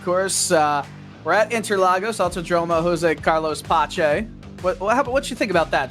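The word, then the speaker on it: José Carlos Pace: That's the way I pronounce it. But I've heard people say Jose Carlos Pace. But I'm with you. To me, it seems like it should be Pache. So I'd say how you say it is right, but I've heard variations. Very fair.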